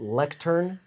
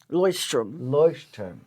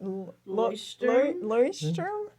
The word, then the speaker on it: Leuchtturm: But I've heard people call it lectern, Leuchtturm, We're getting closer. Leuchtturm. Leuchtturm.